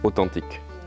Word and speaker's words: authentique: Le A, alors ça, la syllabe, phonétiquement, elle ne commence pas par un A, ça commence par un O, authentique.